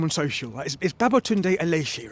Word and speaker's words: Aléshé: of checking your name on social is Babotund Allesi, right? Yes. Yes. Just pronounced correctly. Uh Allesi.